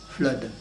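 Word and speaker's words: Fludd: Le premier de ces petits livres, Flood, ça s'écrit F-L-U-2-D, Flood.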